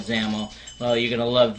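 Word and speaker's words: XAML: the for zaml um I know X XL and it's called zaml well you're going to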